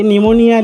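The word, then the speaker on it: pneumonia: तुम्हाला वाचा नाहीयत हे निमोनिया लिहिल आहे निमोनिया मग निमोनिया मध्ये निमोनिया मध्ये तुम्हाला पी चा उल्लेख केला किंवा अस वाचताना निमोनिया निमोनिया नाही आला पी चा उच्चार माग पी हा सायलेंट आहे अस पुढची लिस्ट बघा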